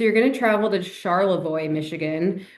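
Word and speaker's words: Charlevoix: So, you're going to travel to Charlavoy, Michigan, which is probably is not pronounced the way you thought it was, but here in Michigan, we like to say things really weirdly, so it's it is Charlavoy.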